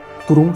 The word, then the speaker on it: Thuron: Turon se escreve Thuron.